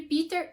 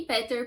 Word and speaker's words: Peter: E sim, você, fiscal da pronúncia, eu vou ficar alternando entre Peter e Peter, porque a hora que sai é como sai, tá? E os 2 jeitos estão certos.